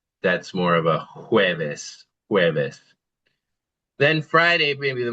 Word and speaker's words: jueves: That would be jueves. Jueves. Jueves. Yeah, good. Kind of like our word for egg, right? Huevo, but since the J is making the H sound, that's more of a jueves.